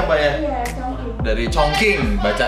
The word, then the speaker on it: Chongqing: Dari Chongqing, bacanya Chongqing.